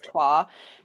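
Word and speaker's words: Troyes: may have seen it it's spelled like Troys um but it is a French word so it is twah and um yeah that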